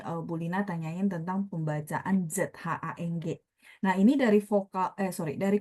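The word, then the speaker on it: 长: Lina adalah panjang de zhang gitu ya. Jadi panjang de zhang karena dia ZH, teman-teman, udah pasti bacanya bersih, tidak ada angin ya kalau teman-teman lagi praktek di rumah.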